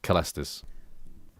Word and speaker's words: Caelestis: Caelestis. Latin pronunciation. Caelestis. Caelestis. Caelestis. Caelestis. I knew it. I fucking knew it. It's a K.